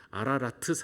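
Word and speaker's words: 아라랏: 저 아라산은 사실 정확하게 말하면 아라트 이렇게 발음해야 되더라고요.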